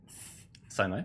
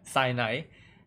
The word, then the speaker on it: Sinai: So the Mount, wait, is how to pronounce it again? Sinai. Sinai.